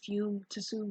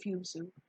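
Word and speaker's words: Fumetsu: Yeah, because I was about to say it's probably Fume Tsu, but that wouldn't make sense because of how it sounds. And usually anything in like Japanese speaking with T and S is usually just like the T is silent. So Raibaru Fumesu.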